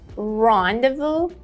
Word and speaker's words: rendezvous: Rendezvous or rendezvous. First of all, the first syllable has the main stress, so say it in a more clear way. And second of all, you can both say devil or devu.